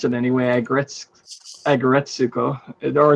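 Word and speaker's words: Aggretsuko: And that's how I pronounce it anyway, Agretsuko.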